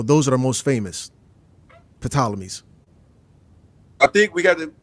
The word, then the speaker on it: Ptolemies: Now, Cleopatra was the last of the bloodline of the Ptolemies, and I know the P is silent, but I still call it the Ptolemies.